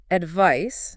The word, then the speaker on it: advice: Advice, noun, ends with a clear S sound, like ice.